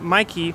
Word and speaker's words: Meike: some new lenses that mikey micah you know i think it's actually pronounced micah but i've always said mikey because we had this